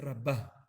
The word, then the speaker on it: Rabbah: Es bueno que sepan, Rabba con Hei, cuando acaba con Hei, se dice Rabbah, o sea, con acento al final, ¿sí? En la Bet, Rabbah. Y los que acaban con Aleph, nosotros lo hacemos como Rabba, con acento en la Ra.